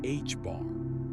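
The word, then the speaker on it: ħ: H stroke, pronounced H bar, is the reduced plank constant, a tiny number that governs the scale of quantum effects.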